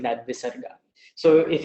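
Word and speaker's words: विसर्ग: sometimes you find this visarga following a particular vowel. And that is pronounced just like a release of the breath.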